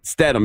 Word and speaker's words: Statham: Statham. Is it Statham?